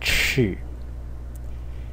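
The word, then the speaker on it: 彳: This is the left part, and it is pronounced chi, and it means a footstep.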